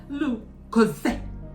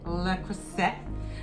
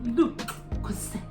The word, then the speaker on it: Le Creuset: I called it le Creuset, but the T is silent, and it is, when they do it like the French do, le Creuset.